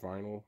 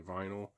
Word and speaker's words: VNYL: a subscription service called I guess it's just pronounced vinyl or v NL v n